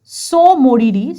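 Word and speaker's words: Tso Moriri: Examples আর সো মরিরি। সো এখানে কিন্তু টিটা কিন্তু উচ্চারিত হবে না বন্ধুরা, এটা কিন্তু ভালো করে খেয়াল রাখবে।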